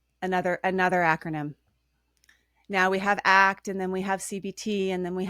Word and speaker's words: ACT: calling it ACT, because most people call it ACT. Oh, is that And right? yeah, and it is pronounced ACT.